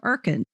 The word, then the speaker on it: Urkund: The Erkin system is highly accurate, cost-effective, and even better, doesn't sell licenses to students or others. Just teachers can use the power of Erkin.